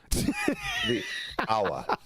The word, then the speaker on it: hour: shouldn't say in British how do you say in proper English hour like yeah I'd say ah ah yeah that's what he was doing every time ah hour hour hour without the H instead of hour I